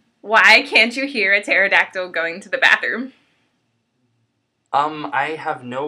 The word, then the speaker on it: pterodactyl: can't you hear a pterodactyl going to the bathroom um I have no idea cuz the PE is silent